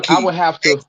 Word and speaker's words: Xi: Most people say she because that's what the pronunciation would be if you were speaking Chinese language when you see the XI, but XI in Amerindian language make a key sound.